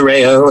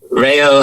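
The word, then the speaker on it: Reo: It is Rayo. It is, look, the R is hard to get, and I think that's sort of, it's funny because I've now lived here 15 years, and now I roll all of my R's in sort of in the Japanese style. So now I can't do like the hard R like in the States, which is weird, but it's just Rayo Hatate.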